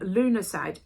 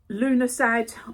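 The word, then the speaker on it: Lughnasadh: the 1st of August for this and um Luna side now I have to look at this is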